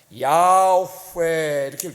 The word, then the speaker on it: 야훼: 이렇게 될 수가 있는데 어떻게 읽었는지는 유대인들이 3계명을 문자적으로 받아들여서 발음을 하지 않았기 때문에 어떻게 읽었는지는 아무도 몰라요 근데 자음을 소리나는 대로 이렇게 읽으면 원래 히브리 말하는 모음이 없습니다 야후에 이렇게 느껴져요 이게 예 그런데 이거를